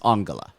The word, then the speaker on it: Angela: would play her oh it's spelled Angela but it's pronounced angala no maybe I have